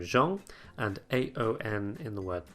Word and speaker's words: Jean: We have a couple of slightly more exceptional cases in the EAN in the name Jean and AON in the word pong, meaning peacock, but these are exceptions that you can learn individually.